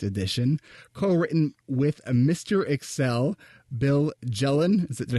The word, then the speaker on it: Bill Jelen: Excel, Bill Jelen.